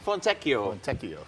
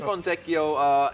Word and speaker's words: Fontecchio: So I'm gonna help everyone out here with the pronunciation because we got a jazz man to be introduced here. Simone Fontecchio. Yeah, so Simone Fontecchio, interesting guy here.